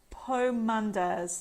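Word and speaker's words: pomanders: Pomandas, that's how you pronounce it.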